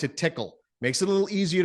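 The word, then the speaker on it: TCCAA: called tickle tickle right it's not spelled like your traditional tickle right it's TCC a a those are the six ways we pronounce it tickle makes it a little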